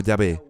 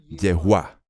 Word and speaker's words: Yahweh: que es su nombre el que conocemos como yve pero que verbalizado realmente se pronuncia como yehua Y esta es una de las muchas pronunciaciones posibles e inmediatamente después de